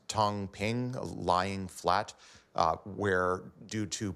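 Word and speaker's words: 躺平: There's this notion in China of, I think it's pronounced Tong Ping, lying flat, where due to pressures of Yeah, lying flat is pretty much like people giving up.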